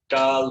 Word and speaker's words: calor: How many syllables do I have? What is a syllable, first of all? Syllable is like a beat in the word. Calor. All right. So 2 syllables. Calor. Which one gets the accent? In other words, which one am I stressing or saying the loudest? Ca or lor? So I say calor.